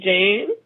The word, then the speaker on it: Jhane: people okay here's my guess okay okay Miss Jane are you with me right now I hope